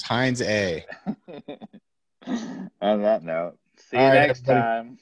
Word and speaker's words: Heinze: how to pronounce it which is heinz a maybe not heinz a that's all we really need it's heinz a on that note see